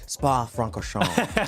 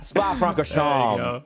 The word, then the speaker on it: Spa-Francorchamps: And I got to say this just because I'm learning to pronounce it. Spa-Francorchamps. There you go. Spa-Francorchamps.